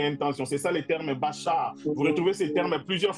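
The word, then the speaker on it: בחר: Le mot hébreu qui parle du choix c'est un mot qui veut dire qu' qu'on prononce en hébreu bachar. Je crois que certains ici connaissent Bachar Alassad comme vous l'entendez. Bachar Bachar B A C H A R.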